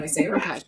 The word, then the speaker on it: Raasch: So we're just very American, and we say Raasch.